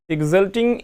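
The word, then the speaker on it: exalting: है फ्रॉम ये फ्रामटिंग एग्जॉल्टिंग ये एक्स का उच्चारण ठीक है जब भी होगा ये एक्स इसका उच्चारण में आधा ग और जाम मिला करके बोला जाता है इसलिए ये यहां पर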